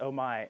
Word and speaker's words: Omae: you are absolutely gorgeous i always say your name is oh my am i correct in that pronunciation yeah uh most people probably